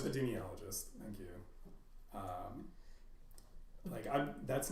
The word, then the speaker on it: epidemiologist: Epidemiologist. Epidemiologist.